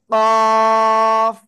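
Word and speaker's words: قاف: এই অক্ষরের নাম হলো কাফ মোটা আওয়াজে চার এলিফ টেনে পড়তে হবে জিহ্বার গোড়া তার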